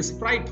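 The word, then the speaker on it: sprite: है स्प्राइट ठीक है स्प्राइट क लोग इसको स्पीट बोल देते य स्प्राइट होता है तो प्रेत स्प्राइट स्प्राइट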